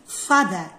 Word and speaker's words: father: يعني هذا الفاذر هي تنكتب father بالصح في British accent يعني في اللغة الإنجليزية نقراوها father الار التالي ما ينطقش father.